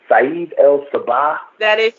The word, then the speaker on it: Saeed El Sabah: Help me pronounce his name, girl. I'm gonna mess it up. Saeed El Sabah. That is good.